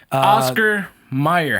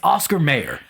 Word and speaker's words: Oscar Mayer: pronounce it too because this one is also pronunciation apparently meyer for some yeah meyer oscar meyer spelled e y e r yeah exactly well we're wrong here it's oscar mayer and it's this episode